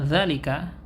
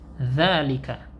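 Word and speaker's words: ذلك: Nah, yang perlu diperhatikan di sini, terkadang penulisan zalika tanpa harokat itu kita dapati seperti ini saja. Ya. Nah, cara membacanya, kita baca za-nya dengan ada matnya. Dzalika. Jadi bukan zalika, namun dzalika.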